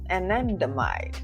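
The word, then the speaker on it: anandamide: bonus information for you anendomide that's how you say it is a neurotransmitter that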